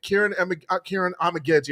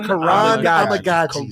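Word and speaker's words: Kiran Amegadjie: We're probably going to implement Kieran Amagaji. I always get his name wrong. Amagaji for the first. Karan Amagaji.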